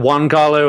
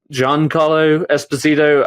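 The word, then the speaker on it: Giancarlo Esposito: I feel like uh you pronounce it John Carlo Espazito. I I've always said Juan Carlo and I know that's wrong but John Carlo Espazito I feel like his character was hacked to death.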